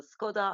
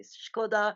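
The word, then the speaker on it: Škoda: I used to say, for example, Skoda. I learned to say Skoda, so at least I can pronounce the words correctly, at least.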